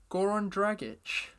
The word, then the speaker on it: Goran Dragic: I'm going to start with one of my boys, Goran Dragic.